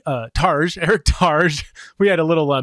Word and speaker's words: Targe: in the raw my guest today is eric targey uh tarj eric targe we had a little uh mix up on how to pronounce his name so yes it's eric targe